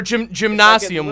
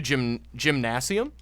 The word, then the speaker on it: Gymnasium: It's a hard G.